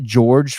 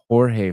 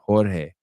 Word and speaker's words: Jorge: It's not George Fernandez. It's Jorge Fernandez. Jorge.